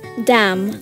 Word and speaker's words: damn: Okay, how about damn? Damn it. Okay, damn. Damn. Okay, damn, I don't think. N is a silent letter.